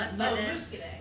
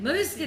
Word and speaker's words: Muscadet: no, Muscadet. Muscadet.